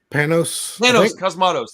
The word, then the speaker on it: Panos Cosmatos: Is it Panos Cosmatos, that's what it is.